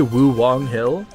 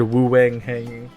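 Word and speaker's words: Wuwang Hill: secretly German no I I meant to say woo Wong Hill but I said Woo Wang hang because I didn't say it right I don't know I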